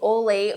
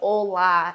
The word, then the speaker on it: Ole: I always thought his name was Ole. I have been saying Ole for years because it is spelled O-L-E, but I found out no, it is indeed Ola, and he is such a character.